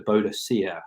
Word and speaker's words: Boudica: it was changed to buddika which is the Celtic pronunciation as it was felt that the Roman pronunciation was wrong know to call her